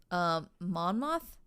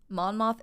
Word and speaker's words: Monmouth: So he bounces around Chicago and ends up in his hometown of, I believe it's pronounced Monmouth. Monmouth, Illinois, where his crimes again get kicked up a notch.